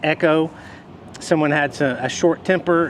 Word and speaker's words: Echo: Sometimes I call it Eco or Echo, Echo, but it's Echo.